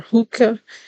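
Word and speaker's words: Hoka: how you pronounce this I think it's called hookah or hookah is h o k a it's kind of like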